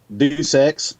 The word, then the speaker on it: Deus Ex: Deus Ex. Yeah. Kind of like Deus Ex Machina, you know. So, Deus but yeah, it's Deus Ex. It means from God in Latin.